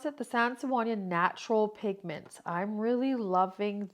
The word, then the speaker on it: Sennelier: And but I really am enjoying these um Sennelier. I think we'll say Sennelier. Is how you pronounce it, the Sennelier natural pigments.